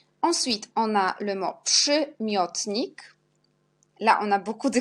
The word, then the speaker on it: przymiotnik: Ensuite, on a le mot przymiotnik. Là, on a beaucoup de combinaisons. On a RZ qui prononce je, comme Z avec petit accent.